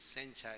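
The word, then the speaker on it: 煎茶: Chou is called ginger this is the same character in in Chinese but the pronunciation is Sencha here in Japan so actually is a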